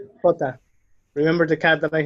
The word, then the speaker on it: jota: Again, like a cat hissing. Jota.